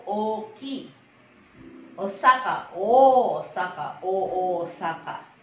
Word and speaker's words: Osaka: Osaka, Osaka, Osaka. Pronunciation is Osaka.